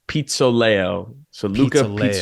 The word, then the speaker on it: Pizzoleo: your last name first it's pronounced Pizza Leo layout yeah gotcha okay